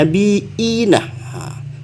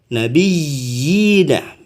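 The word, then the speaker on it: النَّبِيِّينَ: Bacaannya ini bukan mad asli tapi disebut namanya mad tamkin. Kenapa? Karena terdapat 2 iya di sini ya. Nabiyina. Kalau di imam yang lain bacanya nabiina. Tapi di sini yang Imam Hafaz yang kita anut dalam pembacaan kita ini nabiyyina.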